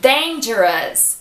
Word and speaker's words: dangerous: E dangerous. Dangerous. Então presta atenção. Se você vê a palavra com O-U-S, você sabe que o som é de us.